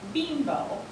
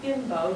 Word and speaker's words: Bimbo: so you don't laugh it is bambo be e m b o not bimbo to be quite um